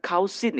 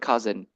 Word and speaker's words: cousin: Jadi cara bacanya bukan kausin ya teman-teman ya. But we could say it's about cousin.